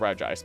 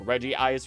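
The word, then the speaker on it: Regice: for the pronunciation of re ice because even the anime mixes it up constantly between Regis saying Reggie ice reggi reggi ice and then other characters saying re ice or reggi ice.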